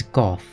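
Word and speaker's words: Gough: him Hawkeye Go, but upon speaking to him, he will utter his own name and pronounces it as Goth.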